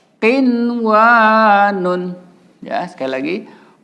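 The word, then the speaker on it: قِنْوَانٌ: Nun sukun ketemu wa, secara hukum idgham bigunah, tapi tidak boleh kita baca idgham bigunah. Harus dibaca ishar mutlak ya. Jadi bacanya qinwanun. Ya, sekali lagi qinwanun.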